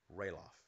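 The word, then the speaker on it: Ralof: sounds nice quill booy pronounced it riloff Roff gave me a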